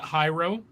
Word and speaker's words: gyro: It's a hero sandwich. Hero wrap. Whatever. Yeah. Is that how they spell the hero for the hero sandwichy thing? Like gyro? That's hero.